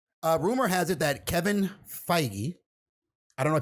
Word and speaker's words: Feige: has it that Kevin Feige I don't know people keep saying Kevin sage every time these comic book places although you know what it is spelled like beige yeah but yes never by